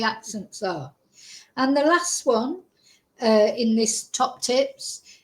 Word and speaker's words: once: Uh onset which is spelled o n c e.